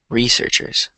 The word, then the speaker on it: researchers: word researchers researchers yeah because a lot of people say researchers but you want to say researchers researchers just like that yeah because you want to stress the first syllable uhhuh and uh is